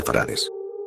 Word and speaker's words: farad: Viví en la gran ciudad de farad que se pronuncia farad la utopía del futuro